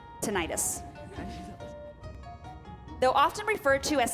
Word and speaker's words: tinnitus: close its - I don't know if I'm pronouncing yeah no it's tinnitus though often referred to as Scandinavia the common